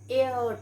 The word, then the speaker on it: heir: then he is an heir to the throne he is and so at inside we pronounce it as air air means goddess okay so he is an heir to the throne so